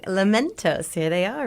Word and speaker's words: Lamentos: But we have queued up Lamentos.